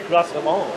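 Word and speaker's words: Grosse Savanne: Where it's GROSSESAVANNE. Grossevan. That's it.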